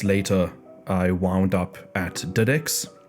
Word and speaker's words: DX: I wound up at dedex it's uh spelled DX pronounced dedex MH it's a company